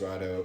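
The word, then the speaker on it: Raidho: But yeah, next up is Ride Ho, pronounced Rado.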